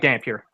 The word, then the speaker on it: Dampier: last name is a Dampier I think yes it's damn pure damn pewter okay I said it right it's got a little Canadian flare named Pierre and then uh we